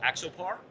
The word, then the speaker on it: Axopar: How do we actually pronounce the name of this boat? This company is called Axopar.